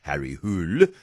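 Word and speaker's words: Harry Hole: This one doesn't feature a detective who is in a lot of his books, Harry Hul, which is apparently how you pronounce the name, which is spelled H O L E.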